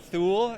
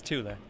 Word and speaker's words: Thule: Tula now regularly mispronounced is that the correct pronunciation uh that is correct yes it is not Thule it is it is Tula tula and a Swedish company yes I know